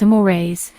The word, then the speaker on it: mores: Social norms are also classified as folkways and mores, pronounced as amores, insofar as their relative degree of importance is considered.